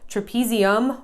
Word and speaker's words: trapezium: So first of all, trapezium rhymes with thumb.